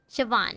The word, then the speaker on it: Siobhan: Siobhan, that's how you pronounce it.